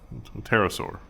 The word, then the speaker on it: pterosaur: million years so there's the p is silent pterosaur oh yeah because pterodactyl